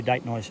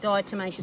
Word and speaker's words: diatomaceous: that they fall into date-nice earth, is that how you say it? Diatomaceous Di- earth, yep. Yeah, that's better.